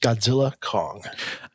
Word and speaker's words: Godzilla x Kong: So it what I understand from uh the hit movie Godzilla X Kong uh is that you're not supposed to pronounce the X. So it's just Godzilla Kong.